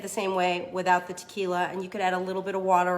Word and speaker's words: tequila: there's a shot of tequila or chick Willa as people who can't pronounce it like to say then we are gonna